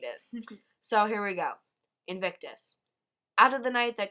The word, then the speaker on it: Invictus: William Ernest Hensley and this poem is called Invictus right that's how you say it yes and